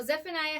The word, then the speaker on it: Zephaniah: is FN ayah so Zephaniah has three syllables in his name when we say his name it sounds like Zephaniah so we are going